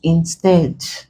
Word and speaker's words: instead: But instead, this is a prefix. So we stress the second syllable. Isn't the answer glaring now? The answer is instead.